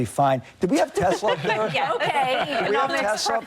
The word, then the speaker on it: Tesla: Tesla. Tesla. Why do we say Tesla? There's no Z in there.